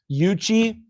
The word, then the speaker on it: Yuchi: So, you got Bull Hollow at 928, Yuchi at 932. That's how you pronounce that.